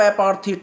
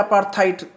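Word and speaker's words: apartheid: आगे हम पढ़ेंगे यहाँ से, तो इसमें है द पॉलिसी ऑफ एपार्थीट, एपार्थीट या अपार्थाइट, अपार्थेट या अपार्थाइट, थेट या थाइट दोनों उच्चारण होता है इसका यहाँ से।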